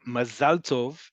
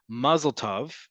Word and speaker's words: mazal tov: So mazal is how we would say it in modern Hebrew. And mazal tov, because it's mazal tov, that in tov is more easily pronounced. When we say in Ashkenazi inflected Hebrew, mazel tov, right?